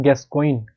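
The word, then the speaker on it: Gascoigne: उनका नाम था William गैस कोइन गैस कोइन बोलते हैं इनको हिंदी में गैस कोइन जी साइलेंट होता है इसमें और अगर आपसे पूछा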